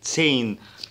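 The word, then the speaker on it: zehn: برضو انا بفكرك ان حرف الها اللي جه في النص ده سايلنت، عشان كده اعمل لك نقطه حمراء تحت منه، فبيمط الحرف اللي ما بيتنطقش وبيمط الحرف اللي قبله، بقى دي تسين. وخد بالك ان ده بيتنطق كده تسا تسوج تسين.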